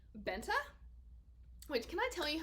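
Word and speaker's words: Bente: first read this book because it's b-e-n-t-e i was like i know how to pronounce that name because in dutch an e can be pronounced as an a and i was just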